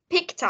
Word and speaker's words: picked: Picked up. Vì ở đây là nó là một cái đuôi ed, mình sẽ phát âm là picked, có âm th cuối cùng.